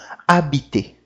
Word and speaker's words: habiter: H. Em francês, ele não pronuncia. Ele não tem som nenhum. Ele vai ter o som da vogal que segue ele. Como, por exemplo, aqui, homme. Homme. Né? E o verbo habiter. Habiter.